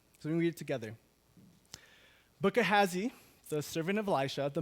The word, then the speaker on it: Gehazi: His name is Gehazi. Everybody say Gehazi. Okay. I think you pronounce it wrong.